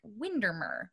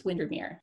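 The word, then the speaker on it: Windermere: at Ray Castle near Lake windermer Mir windir it's windir learning already here she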